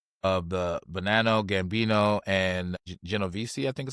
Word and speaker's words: Genovese: This morning, 31 defendants were arrested in 11 states, including members of the Associates of the Bonanno, Gambino, and Genovese, I think is how you say that, organized crime families of La Cosa Nostra, or LCN.